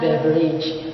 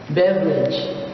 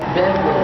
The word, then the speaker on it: beverage: set e is the word beverage it's not beverage it should be pronounced as beverage again beverage let's proceed on the word set f the